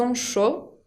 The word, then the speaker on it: chaud: Chaud con la D final que no se pronuncia. On peut dire par exemple ils ont chaud.